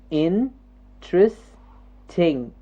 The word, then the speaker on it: interesting: the word again and see how many syllables interesting interesting three syllables in tris ting okay interesting now we